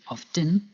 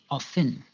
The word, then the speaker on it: often: Pronouncing the T, often, or by not pronouncing the T, often. Both forms are correct and depend on where you live.